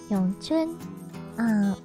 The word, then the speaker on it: Wing Chun: So in Mandarin dialect, it's pronounced Yongchun. But the wing comes from Cantonese, which is more common, I guess, when or is not more common.